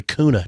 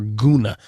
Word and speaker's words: Kuna: this mainly originates from is the kuna tribe or gona depends on how you want to pronounce it there's an extremely high